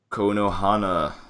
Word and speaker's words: Konoha: the finals to face Konohana, or however you pronounce it, you know? I think we literally Googled how to pronounce it, and it was Konoha. Konoha. Yeah, there you go. Like a cone, man.